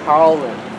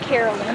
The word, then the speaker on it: Carlin: Carlin. Not Carolyn. Carlin, yeah. Carlin. Like a car Carlin. And then Lynn.